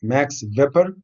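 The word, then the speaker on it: Max Weber: just few examples taxiweaper it is said next vapor is written by w but you should when you want to say i should pronounce by uh as a v as a max vapor peter's one very important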